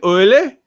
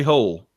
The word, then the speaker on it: Hole: the detectives name donna in in norwegian it's it's Harry oily but when you look at it it's hairy hole yes yes her name